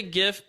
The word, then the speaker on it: GIF: GIF or GIF uh I say GIF because it's graphic interface files so I have to just think that the hard G stays uh and the final